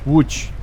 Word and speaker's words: Łódź: Łódź. There's no way, if I looked at those 4 letters, there's no way I would ever come up with that pronunciation.